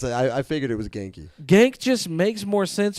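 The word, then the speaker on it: Ganke: gy all right sucks man cuz I thought gank was cool but gy I guess is cool but yeah it's pronounced Ganky so i' I've been reading it wrong this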